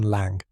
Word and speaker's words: Lang: Victor Lang, pronunciation lang rhymes with song.